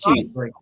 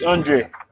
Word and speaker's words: Aundray: But it's spelled AUNDRAY. Bruce Andre. AUN. Okay. AUNDREY. DRAY. AY. Okay. He's spelling Andre.